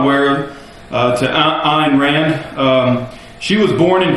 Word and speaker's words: Ayn Rand: Probably the correct pronunciation is Ayn.